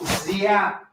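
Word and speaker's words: Giap: Hey, folks, it's General Zap. It's spelled G I A P.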